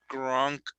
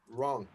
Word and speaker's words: wrong: the synonym of incorrect wrong wrong wrong sorry you don't have to pronounce the w uh it's like uh